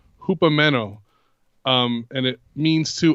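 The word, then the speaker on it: ὑπομένω: in the Greek is the Greek word 5278 pronounced Hoopa meno um and it means to abide so now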